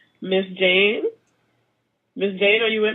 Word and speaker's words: Jhane: people okay here's my guess okay okay Miss Jane are you with me right now I hope